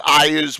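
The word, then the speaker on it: Iuz: Some people pronounce it Ias. We've always pronounced it Eas.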